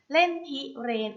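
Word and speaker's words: เล่นพิเรนทร์: คำ ว่า เล่น พิเรน เล่น พิเรนทร์ อ่าน ว่า เล่น พิเรน เล่น พิเรนทร์ ประกอบ ไป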